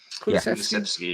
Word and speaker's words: Kulusevski: Kulusevski, yeah.